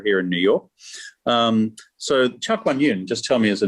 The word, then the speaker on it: Chowkwanyun: Everyone thinks it's a lot more complicated than it is, but it's just three syllables and you say them fast and phonetically.